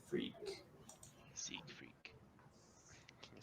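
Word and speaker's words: Cygfrek: catch your name your auto and z freak seek freak can you spell that for me daniel c y g f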